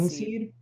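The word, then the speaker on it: Kynseed: It's called Kinseed. Kinseed, but Yeah, kin is spelled with KY. a Y. Yeah, KYN seed.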